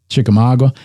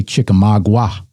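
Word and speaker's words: Chickamauga: Now they win the battle of um Chikamaga. I always want to say Chikamagua. It's Chikamaga.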